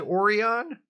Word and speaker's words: Orion: You know who else pronounces it Orion? Bruce Springsteen, in the song Long Time Coming from his album Devils and Dust.